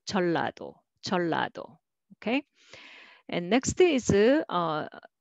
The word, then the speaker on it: 전라도: And next is 전라도, 전라도, but nobody pronounce that way. They will say 전라도, 전라도.